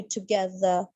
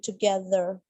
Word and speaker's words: together: All right, now you are pronouncing it like bit American, लेकिन अगर आप British में करोगे तो R ड्रॉप करोगे, so that will be together, and in American it will be together, right?